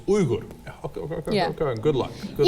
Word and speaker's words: Uygur: Look, my name, Uygur, is actually not pronounced Uygur. In Turkish, it's Uygur.